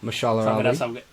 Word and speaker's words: Mahershala Ali: I'm terrible at pronouncing names. You say it. Mahershala Ali. Yeah, as people are going to hate me in the comments. Simo. Mahershala Ali.